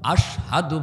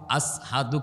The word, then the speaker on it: আশহাদু: আশহাদু বলতে পারতেন না, আসহাদু কইতেন, শিন উচ্চারণ করতে পারতেন না, সিন বলতেন। আমরা যেমন বলি সমাজ, কিন্তু বেলালের মুখ থেকে আসতো সমাজ, শিন বলতে পারতেন না।